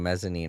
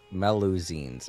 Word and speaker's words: Melusine: I keep saying mezzanine. I know that's not it. Melusines, I think, is how it's pronounced.